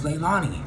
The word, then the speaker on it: Leilani: Aloha my name is Leilani or a lady for short pronounced Li like Frito Lays potato chip company but I am NOT